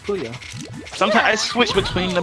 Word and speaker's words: Puyo Puyo: Yeah, it's pronounced Puyo.